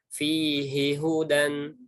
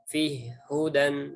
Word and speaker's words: fihi hudan: Kemudian baca yang ini fihi hudan, bukan fih hudan.